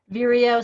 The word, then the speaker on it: Vireo: Vireo sounds like Cheerio, but with like vulva. Vireo.